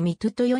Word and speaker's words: Mitutoyo: でみとであり英語での発音はみつよよりミトヨに近いその他にも